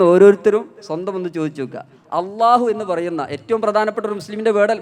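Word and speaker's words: الله: നാവിൻ്റെ തല ചില ആളുകൾ മുൻപല്ലിൻ്റെ പുറത്തിട്ട് അള്ളാഹ് എന്ന് പറയും, ചില ആളുകൾ മുൻപല്ലിൻ്റെ ഉള്ളിൽ തട്ടിച്ച് പറയും, ചില ആളുകൾ മുൻപല്ലിൽ തട്ടാതെ ലാം പറയുന്ന സ്ഥലത്ത് വെച്ച് പറയും. ഇതിൽ ശരിയായ ഉച്ചാരണം ലാം പറയുന്ന ഇല്ല പറയുന്ന അതേ സ്ഥലത്ത് വെച്ചാണ് അള്ളാഹു പറയേണ്ടത്.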